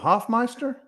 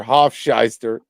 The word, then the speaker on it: Hoffmeister: need to apologize and pronounce her name correctly who was who was who was JJ talking about Hoffmeister yeah yeah he called her Hof Shyer oh man but here